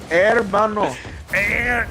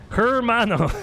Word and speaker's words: hermano: one's listening to me Mano is not how you say her hermano it's right at the beginning it's her I get what you're